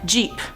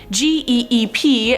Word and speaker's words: geep: let's move on to number five jeep or geep no i'm not talking about the car jeep this is about g-e-e-p and i was probably right the second time saying it's a geep this hybrid is a